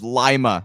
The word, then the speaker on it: Lima: put in the comments it's lima i mispronounced it it's not peru uh lima ohio where those those strikes